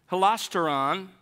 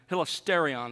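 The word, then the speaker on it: ἱλαστήριον: secondly you have a a different version of the noun holasteron hilisterion surely sorry about mispronouncing that hilisterion is what i mean and this is in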